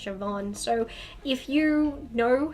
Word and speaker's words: Siobhan: you'd pronounced Siobhan because people look at Siobhan and think it you say steel bond and it's pronounced Siobhan so if you know